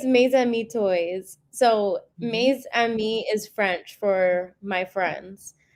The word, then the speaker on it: Mes Amis: So, Maze Ami is French for my friends.